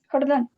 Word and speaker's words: Jordán: ¿cómo se pronuncia tu apellido? ¿Jordán o Jordan? Jordán. Jordán, ¿cierto?